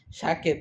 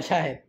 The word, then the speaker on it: শাহেদ: তুমি শাহেদ শাহেদ তুমি দ বলতে পারো না, তুমি ক বলো। তুমি দ উচ্চারণ করতে পারো না? পারো? বলো দ। তাহলে বলো শাহেদ।